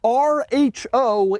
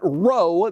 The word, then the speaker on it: RHO: out right away that rho is how you say it I asked the ram people directly it is not row they pronounced the letters individually r h o but anyway the TRX